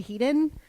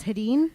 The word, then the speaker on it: Haden: wrong too yeah um I say heeden yeah and I think it's it's Haden it's Haden yeah oh I always thought it was heden heden yeah so and it'll still come outen because for years I always just said Clint heeden okay nope it's Haden it's Clint heden hi damn it Haden you'll get it one day how do you say